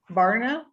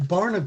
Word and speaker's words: Barna: society there's a group called the barna group barna yeah the the the person who founded it